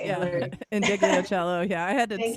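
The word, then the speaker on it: Ndegeocello: And then also I just like, Miss, I'm going to totally say her name wrong, but Michelle Neglidicello. You Yeah. know how to say it, Yeah. Hillary. Indigliocello.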